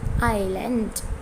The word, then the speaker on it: island: goods very bad goods this is iceland this is not iceland as is silent so this is called island okay once again set